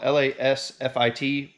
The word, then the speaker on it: LASFIT: So I was contacted on Instagram by a company called LASFIT, spelled L-A-S-F-I-T, pronounced LASFIT.